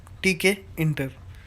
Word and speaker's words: Tkinter: called take a inter toolkit interface pronounced as tk enter we are going to